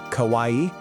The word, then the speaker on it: kawaii: So kawaii, you say it like kawaii is this huge part